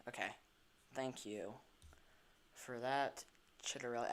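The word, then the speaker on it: Ciattarelli: Chitterelli. I was pronouncing it Ciatarelli.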